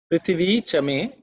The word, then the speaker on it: Prithvi: It is the second letter in the tha varga, so it has to be aspirated. Prithvi me. Prithvi me. Okay. Prithvi Chame. Prithvi Chame. That's the way to pronounce. So pay attention to the tha. It has to be said with an emphasis.